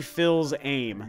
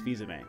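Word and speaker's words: Fils-Aimé: name back then like I was like Reggie fils-aime that's what I called him for a long time until he finally I heard him pronounce that one day is Fiza May and it was like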